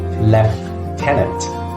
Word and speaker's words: lieutenant: need to remember that it's pronounced left tenant in British accent number 11.